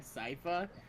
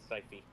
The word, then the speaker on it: Sypha: Every time that I've just been hearing the word Sypha, she's just been going Syphy. Syphy.